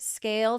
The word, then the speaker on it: Scayle: So visit Scale today. That's SCAYLE. Yes, the Y is silent because you never have to ask why Scale isn't performing.